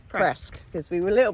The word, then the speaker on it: Presque Isle: And we asked, it is actually pronounced Presque because we were a little bit unsure.